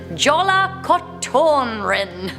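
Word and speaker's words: Jólakötturinn: We have the legend of, correct my pronunciation, Jola Kotorin.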